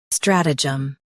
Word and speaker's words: stratagem: Strat. Uh. Jum. Stratagem. Stress strat and keep jum light.